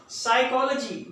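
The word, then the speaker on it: psychology: साइकोलॉजी, नफ्सियात, यहां पे पी को साइलेंट करेंगे।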